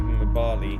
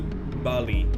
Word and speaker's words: Mbali: It would just be Bali. You don't pronounce the M. You essentially start off your, you start your, your lips closed as though you were gonna say an M, but then you go to Bali, in order to give